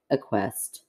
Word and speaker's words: acquiesced: I acquiesced.